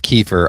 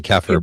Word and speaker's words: kefir: I think it technically is keeper. I usually say kefir, but it I believe it technically is keeper.